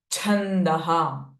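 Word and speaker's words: छन्द: शय अनुष्टुप छंद नाउ छ being the महाप्राण sound when ever you pronounce it you need to feel force in your chest area in द नात चक्र द छंद छ इज महा प्राण नाउ अगेन इट इज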